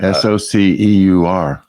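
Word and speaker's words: SOCEUR: Yeah, S-O-C-E-U-R. S-O-C-E-U-R, but it's supposed to be Soc-Eur.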